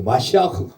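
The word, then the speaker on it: משיח: 셰무엘, 사울, 샤울, 나비, 마샤, 마샤흐, 흐까지 발음을 해야지. 마샤흐.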